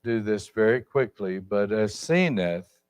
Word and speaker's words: Asenath: And I want you to notice now, I'll just do this very quickly, but Asenath is her name, or some pronounce it Asenath.